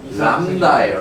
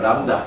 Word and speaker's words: 람다: 파장을 대표하는 문자는 람다예요. 람다 그죠? 람다. 이거 통학과학 때부터 많이 나왔죠? 람다라고 읽어요. 람다.